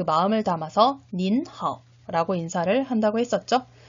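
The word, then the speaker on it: 您好: 그래서 닌하오 라고 인사를 해야 된다고 했었죠. 자, 그러면 이것도 3번 한번 머릿속으로 기억하면서 따라 발음해볼까요?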